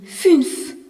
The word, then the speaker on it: fünf: Le nombre 5 se dit fünf. Avec un U, avec un tréma, qui se prononce U et non plus OU.